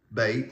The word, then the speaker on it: Bet: Um, and it's pronounced ba bait or bait.